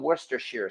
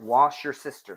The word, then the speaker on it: Worcestershire: say something Worcestershire sauce how hard is it to pronounce worcestershire yet I know there's this big running joke on tick tock that people always call it wash your sister sauce so yeah okay now